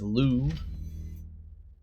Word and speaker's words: Liu: right renee liu arcmont according to dunch we pronounce this as lou the party animal love